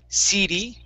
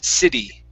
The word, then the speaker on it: city: Or, sorry, CD and city. The only thing we want to change, we want to switch that first I from a long E's type sound, like CD, change that to a short I, city.